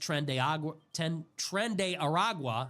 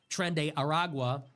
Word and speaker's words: Tren de Aragua: Congress has not authorized any armed conflict against Tren de Aragua, I've been mispronouncing it, Tren de Aragua, or Venezuela, and several